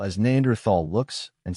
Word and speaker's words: Neanderthal: time was th but the H is silent that said not everyone